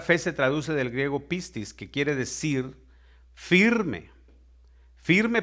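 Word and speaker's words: πίστις: Fíjese, la fe, que viene del griego 4102, que se pronuncia pistis.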